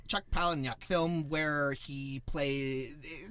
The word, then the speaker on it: Chuck Palahniuk: Chuck Palahniuk. Chuck Palahniuk film where he plays, he's not quite a criminal, but he plays kind of like a Con artist.